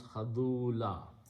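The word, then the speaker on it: خذولا: So khazulan, when you stop at the ayat, you pronounce khadula.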